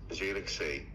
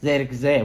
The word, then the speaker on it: Zirkzee: Bacanya gimana tuh Coach yang bener Coach? Betul, Zirkzee. Zirkzee benar.